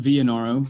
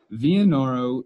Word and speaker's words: Vinero: So yeah, Vinero, we pronounce it Vinero. Sorry, I butchered that. That's okay. We discussed this before. Some of these are, you know, more branding and marketing type names, but we do pronounce it as Vinero.